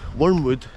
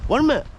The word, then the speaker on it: Wormit: They were meaning to say wormwood, and folk are like, what are you saying? He's like, ah, wormwood. And he's like, ah, Wormit.